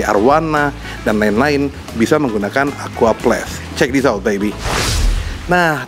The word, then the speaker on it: Aquaplast: Tapi bacanya Aqua Plus karena tulisannya begini. Nanti gue dihina-hina netizen lagi bahasa Inggrisnya jelek.